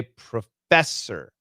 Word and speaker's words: professor: Coach, the word professor, the beginning is ro and the end is or. Yeah, they're different. Nope. The different, very different sounds. So the perfect pronunciation is professor, but nobody says that. We say professor. So it's the first one is a schwa, the second one is a schwa r.